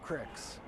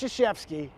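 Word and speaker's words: Krzyzewski: It's Crics. No, it's Shashevsky.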